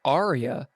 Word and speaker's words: Aria: Oh, what he actually says was Aria. It's just his accent made it sound like Ariello.